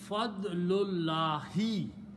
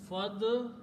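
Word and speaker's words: فَضْلُ اللَّهِ: When we read them together, we do not pronounce this alif in between.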